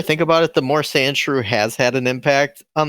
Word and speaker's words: Sandshrew: life i'm sorry but are you pronouncing it andrew like his name's andrew but he lives in the sand yeah yeah is it i thought it was sand true it is sand sandshrew yeah i know but